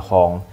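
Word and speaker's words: 本: panjang ya minasang tapi karena di sini engak gak ada angka jadi enggak bisa dibaca pong ya Kara berdiri sendiri jadi bacanya Hong Bong juga bisa dibaca ya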